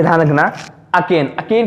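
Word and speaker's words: arcane: इसके बाद अब हमारा अगला वर्ड लिखा है अकेन। अब यहां पर जो आर लिखा है उसको क्या करेंगे? हम साइलेंट रखते हैं।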